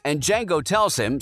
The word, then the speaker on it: Django: bar where Jamie Foxx's Django joins him vasepi asks his name and Django tells him saying that the D is silent and vasepi says I